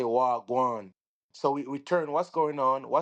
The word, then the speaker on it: wagwan: And it's spelled WAH, and then the other word is GWAAN. Wagwan. That means what's going on.